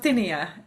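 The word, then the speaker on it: Houttuynia: Hutinia. Is that what you said? I'm probably saying it wrong. Yeah. Hinia.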